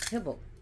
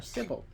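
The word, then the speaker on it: Cybele: call uh identified with kibble or cble depending it's kibble Cil Cil as she's pronounced different ways but they are so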